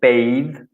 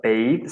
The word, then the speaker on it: sunbathe: Pronunciation, be careful. Bathe, not bath or bath, but bathe.